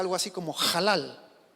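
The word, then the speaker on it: הלל: alabar viene del hebreo es una palabra hebrea que se pronuncia halal el hebreo es un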